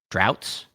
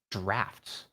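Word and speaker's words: draughts: this says droughts drats there's no F in here how to pronounce Dr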